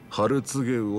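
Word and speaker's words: 春告魚: お客さん、それはね、ハルツゲウオって読むんですよ。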